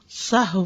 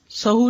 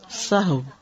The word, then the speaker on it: سہو: سہو ہوتا ہے، سہو نہیں ہوتا. سب لوگ اپنا تلفظ بھی درست کر لیں. سہو جیسے لغو، ٹھیک ہے، کرب، نفس، سہو.